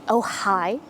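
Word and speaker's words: Ojai: I am here in ohigh California which I love the pronunciation of it sounds like everyone's just saying ohigh I'm at the very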